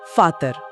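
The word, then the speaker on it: Vater: उदाहरण के लिए हमने शब्द सीखा था फाटर। हम उसे फाटर लिख रहे हैं। पर असल में एक जर्मन उसे फाटा जैसा कुछ बोलेगा। वो आखिरी र लगभग गायब हो जाता है।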